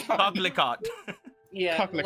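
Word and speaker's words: coquelicot: Yeah, okay, so I'm confirming the pronunciation is cocklico.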